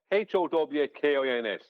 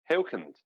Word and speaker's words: Huygens: Yeah, Howkins. Just think of it that way. Hawkins. And that'll sound Dutch.